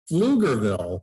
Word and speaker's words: Pflugerville: the town you live in how do you pronounce it what's that what is the town you live in pflugerville lugerville yes yes it was founded it was founded